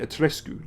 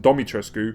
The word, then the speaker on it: Dimitrescu: are first and over lady dimitrisku or debbie dimi atrescu that's it that's how you pronounce it that's the actual way you pronounce it so i don't know why they've got a voice actor pronouncing domitrescu in the game because i'm pretty sure i heard ethan say domitrescu you can't even get the